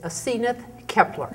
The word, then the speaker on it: Asenath Kepler: to living Santa Fe today our guest is aith Kepler yes am I pronouncing that correctly you are thank you where